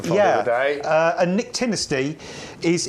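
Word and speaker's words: nyctinasty: it's like it's uh it's not pronounced anything like it's spelled so it's a really weird spelling but yeah it's called Nick tiny and a lot of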